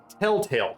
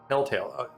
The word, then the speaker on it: Telltale: game from uh uh it's pronounced Telltale correct Aaron Telltale the E is silent okay and um uh